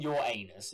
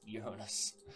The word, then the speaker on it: Uranus: to do this and i am pronouncing it right i'm not saying your anus is uranus all right we have